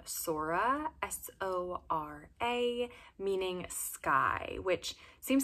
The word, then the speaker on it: Sora: The next name I have for you on my boys list is the name Sora, S-O-R-A, meaning sky, which seems like such a fitting meaning because the name obviously sounds like soar, and I think of